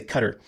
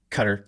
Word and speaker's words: Qatar: the first syllable Kata I put the stress on the second syllable Qatar um but some people just say cutter cutter just sort of like